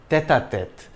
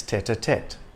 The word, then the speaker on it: tête-à-tête: The T is soft in French, tête-à-tête, but in English it's tête-à-tête.